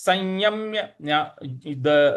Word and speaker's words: संयम्य: मनस संयम्य यम, यहाँ पे यम जो है यहाँ पे हमें हल्का सा बल लगाना है। तो हो जाएगा मनस संयम्य मच्चित्तो। मन संयम्य मच्चित्तो, मन संयम्य मच्चित्तो, इस प्रकार से बोलेंगे।